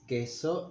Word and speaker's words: queso: Queso, cheese, queso, and so here is one exception to the pronunciation of the U. It's always U, except here that we don't pronounce it. We say queso and Quixote. We don't say queso or Quixote.